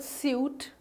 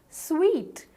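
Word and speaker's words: suite: you call it the suit or a suet or anything not really the correct pronunciation is sweet sweet as in that sweet flavor or some sweet person yes that's right no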